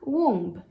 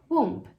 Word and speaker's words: womb: Então, naturalmente, você poderia pronunciar womb, fazendo esse B no final. Womb, womb. Acontece que esse B é uma letra silenciosa. A pronúncia dessa palavra é womb, womb. Você não fala o B, ela termina no M.